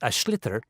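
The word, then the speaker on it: sliotar: get this ball called ash litter that's SL IOT a or so it's not spelt the way it's pronounced u his ears into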